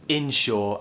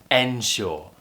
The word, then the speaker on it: insure: you if you're unsure they are both pronounced exactly the same exactly the same in shore and ensure they both have the same stress they both have the same sounds the same pronunciation everything is exactly the